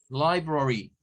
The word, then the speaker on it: library: de estar poniendo esto ponían un shock lightbrook library library entonces resulta que la hay es una sílaba tónica que es una sílaba tónica es